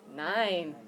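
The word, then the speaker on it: nein: means yes how do you say no n nine mm okay do you know how to spell that one NE i n yeah sometimes people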